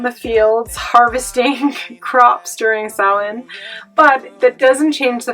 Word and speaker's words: Samhain: thought it was pronounced samhain or something like that in english however it's a gaelic word that represents or directly means the end of summer or the end of